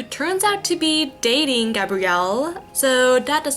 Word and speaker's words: Gabriel: Right, the neighbor's name is Gabrielle. It's not Gabriel. They pronounce it Gabrielle in the show.